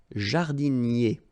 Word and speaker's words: jardinier: Un jardinier. Remember, I-E-R-I-E, jardinier.